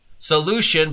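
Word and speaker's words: Solu7ion: a company called soluzon solution but spelled with a seven so it's solu seven ion solution but seven yeah and that's available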